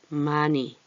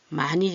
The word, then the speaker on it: 많이: 이런 거죠 많이 그런데 히읗이 이응을 만나면 같은 목구멍 계열 소리이기 때문에 얘가 소리가 없어져요 이 힘 그리고 얘가 니은이 여음이 돼 버립니다 많이 많이 주세요 많이 이렇게 되죠